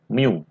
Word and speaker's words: mu: Nah, sifat permukaan benda ini disebut koefisien gesek atau diberi simbol sebagai mu. Ya, bentuknya seperti ini.